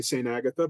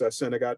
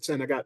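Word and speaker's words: St. Agatha: town where I live a lot of folks say St Agatha but of course Sagat is the way that it would be pronounced in French even elsewhere in Maine among in the Bangor Area most people I know that don't speak a word of French pronounce it Sagat and not awes so you know so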